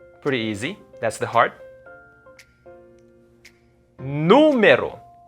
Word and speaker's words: número: Número. It's not numero. It's not numero. It's in the first syllable because there's an accent mark on top of the U. So it's gonna be número.